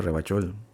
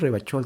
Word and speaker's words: Ravachol: Has dicho Tú no dices Ravachol, tú dices Ravachol. I like to pronounce it the hard way. The old way. The Vespertine way.